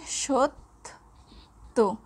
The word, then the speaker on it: সত্য: যদি আমরা বলি সত্য, এর উচ্চারণ হয়ে যাচ্ছে সত্য, অর্থাৎ ত শব্দটি দুইবার উচ্চারিত হবে।